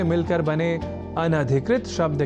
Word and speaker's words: अनधिकृत: ही शब्द की ओर जिसके लेखन और उच्चारण में हम सामान्य रूप से अब अधिक अशुद्धि करने लगे हैं, और वह शब्द है अनधिकृत, जिसे अनाधिकृत इस रूप में न केवल लिखने की ही अपितु बोलने की भी प्रवृत्ति या कुप्रवृत्ति बढ़ गई है।